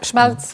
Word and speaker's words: Schmalz: Est-ce que je prononce bien son nom? Tout à fait, Schmalz, oui.